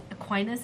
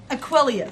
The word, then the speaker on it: Aquilius: But as Mac was swiped away, Corvus yells out, Aquinas, is that how you pronounce it? Aquilius. Aquilius! Ranger Aquilius!